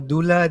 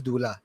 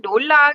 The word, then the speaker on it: doula: the pronunciation is on the second consonant U kan, D-O-U. So Dula sebenarnya dia bukan Dola ke Dola.